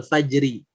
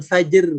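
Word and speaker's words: فجر: Contohnya, nah ini wal fajri. Jadi ro-nya disukunkan, sebelumnya sukun, sebelumnya lagi berharokat fathah atau dhammah. Maka bunyi bukan fajr, tapi fajr. Wal fajr. Begitu.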